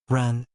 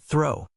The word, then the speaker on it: Ren: Well, this surname should be pronounced Ren, not throw.